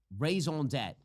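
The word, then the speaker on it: raison d'être: the raison d'etre of the entire 2020 election.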